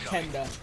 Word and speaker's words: KNDH: Now, if you guys don't know, KNDH actually is supposed to be pronounced Kenda. A lot of people call me Kinda, but it's actually pronounced Kenda.